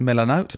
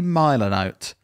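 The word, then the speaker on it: Milanote: next one yeah it's i think it's pronounced miller note but it might be milo note m-i-l-a-n-n-o-t-e um if you're presenting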